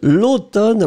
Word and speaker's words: l'automne: L'automne, remember to write it. A-U-T-O-M-N-E. So it's really funny because this M, in fact, doesn't really exist at all phonetically.